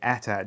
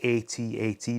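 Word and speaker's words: AT-AT: a previous video where they insisted that i was saying it wrong by saying attack driver which is something i've said since the 80s i was told you have to say ata driver so if that person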